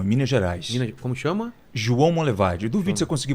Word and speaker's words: João Monlevade: no rio não em Minas Gerais como chama João Monlevade duvido você conseguir pronunciar corretamente João Monlevade João Monlevade e isso vamos levar perto de